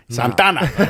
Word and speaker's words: Santa Ana: Not Hey, Santa Ana. Santana. Say it right.